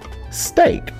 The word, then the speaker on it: steak: vow team EA again but in this case the E will stay silent and the a will be get a long sound St a steak so what we just